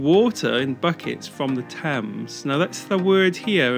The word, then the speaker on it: Thames: but this is actually you get rid of the h it's just pronounced thames so that's that's one